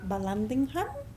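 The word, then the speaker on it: Vallandigham: even though uh expert Balandingham is how you pronounce him said you know that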